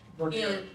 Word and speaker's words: Vernier: That's how she pronounces it. Vernier.